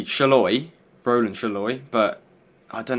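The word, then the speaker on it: Sallai: hungary's left back's name I think it looks the same as shaloy and I know that's how you pronounce his name because I remember he scored against us at Wembley and that's how the announcer said his name so that's how I think you say shaloy Roland shaloy but I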